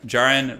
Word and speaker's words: Jaron: playing um also turn Jaron rhymes with Aaron so Jaren okay got it so